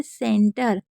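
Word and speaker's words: center: सेंटर में सी ई एन को सैन पढ़ रहे हैं। टी आर को टर पढ़ रहे हैं। हमेशा सी एन को सैन ही पढ़ना है। मतलब सी ई को से पढ़ते हैं।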